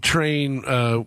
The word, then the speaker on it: Trane: Well, the original version of Train, which is spelled Trane, like John Coltrane, was on our first studio record, and then the Live at Roseland version you're talking about.